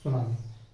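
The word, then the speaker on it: tsunami: में कारण क्या है सुनामी इस टी साइलेंट होता है सुनामी को पढ़ते है क्लियर तो ये तो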